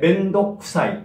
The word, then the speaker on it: 面倒くさい: 멘도쿠사이라고 표기하지만 과감하게 멘독사이라고 발음해야 됩니다. 그래서 발음이 아주 중요한데요. 같이 해볼까요? 멘독사이, 멘독사이, 가수사이, 사이코, 과감하게 멘독사이, 멘독사이, 멘독사이, 이렇게 발음하면 되겠습니다.